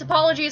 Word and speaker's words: Apple OGs: No, it's apologies. I asked her. Well, she spelled it. I pronounced it wrong and she corrected me.